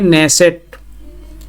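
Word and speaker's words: Knesset: Israel की parliament को कहते हैं नेसेट। इसमें के साइलेंट है।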